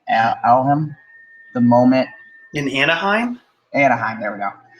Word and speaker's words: Anaheim: Anaheim, there we go. Alhem?